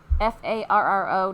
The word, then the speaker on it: Farro: Farro. Not spelled like the Pharaoh in Egypt, but it's kind of a warm but gray-brown.